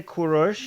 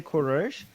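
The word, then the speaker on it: Kourosh: same thing I like Jews say kures Iranians say kures and Cyrus is not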